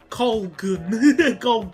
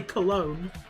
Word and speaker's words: Cologne: Cologne as Colgun. Colgun. Even I knew how to say Cologne. Cologne. That's my favourite way of mispronouncing it.